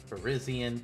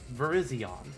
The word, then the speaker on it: Virizion: feels like the last syllables should sound the same for all 3, so that's why I say Terrakion, Cobalion, Virizion. Otherwise it's like Terrakion, Cobalion, Virizion. And that just doesn't sound right to me.